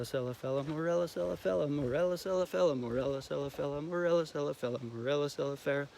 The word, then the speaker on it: Morella cerifera: compulsive and be like, Morella celifella, Morella celifella, Morella celifella, Morella celifella, Morella celifella, Morella celifella, Morella celifella, Morella celifera. See, I said it wrong.